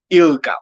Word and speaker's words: ILGA: Melusi, let's talk about now the I don't know how to say it, ILGA or ILGA.